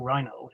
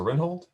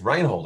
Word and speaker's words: Rynhold: so much to uh professor rinhold i guess reinhold i've pronounced it wrong for all these years